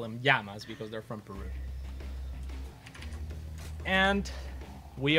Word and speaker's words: llama: Yama Llama Llama yeah llama properly pronounced is Yama okay that's the name